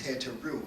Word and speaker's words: Heteru: The word Hatha Yoga, or the word Hatha, represents, is speculated to come from an African word called Hathor, whose correct pronunciation is Heteru.